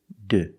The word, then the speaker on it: do: Another pronunciation you might hear is d. This is a shorter version of do, d. You hear this when people are talking fast.